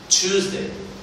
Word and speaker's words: Tuesday: في عندنا مشكلة في التي اسمها ت مش ط، مش تيوز. choose، Tuesday.